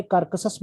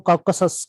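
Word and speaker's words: Caucasus: ठीक है, तो एशिया एंड यूरोप में जो है ना, कार्कसस नहीं है, सॉरी मैं गलत प्रोनाउंस कर रहा हूँ, कॉकसस कहते हैं, कॉकसस, आर नहीं पढ़ेंगे, कॉकसस।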